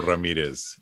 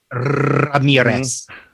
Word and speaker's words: Ramirez: And I'm Ramirez, or Ramirez, if you say it right. Ramirez.